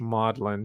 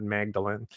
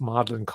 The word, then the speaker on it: Magdalen: It's pronounced in British English Magdalen, not Magdalene. And I say that because I made the mistake. All right, I'm not. So, but I'm just telling you, it's Magdalen.